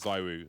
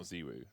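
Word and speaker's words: ZywOo: in an interview and said it is zyru not ziru but that's not even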